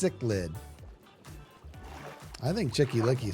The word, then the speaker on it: cichlid: It's is pronounced cichlid.